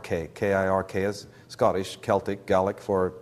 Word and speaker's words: kirk: wizard the enchantress cir which the Scottish pronounce as kirk with a hard k i r k is Scottish Celtic gic